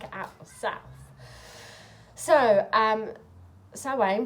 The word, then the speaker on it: Samhain: want to check it out yourself so um salwain pronounce satin celebrated as a couch festival halfway between the